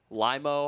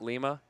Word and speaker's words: Lima: Limo, Ohio. Not Lima, the capital of Peru.